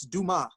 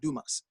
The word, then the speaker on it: Dumas: like that idea oh one correction it's do ma not Dumas I'll say Dumas is